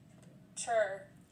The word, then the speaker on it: chur: Chur. Chur. Chur. Chur. It's kind of like sure.